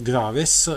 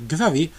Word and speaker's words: Graves: In Francia esiste un particolare radar, in italiano lo possiamo pronunciare Graves, la pronuncia reale è Gravé, è un radar di origine militare.